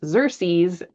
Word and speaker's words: Xerces: It's pronounced Xerces.